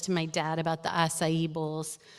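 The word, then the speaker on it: açaí: What's a kai? It's actually pronounced acai, Willa says.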